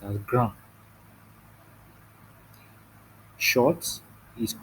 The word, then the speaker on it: grand: Now, tall in French is pronounced as grand.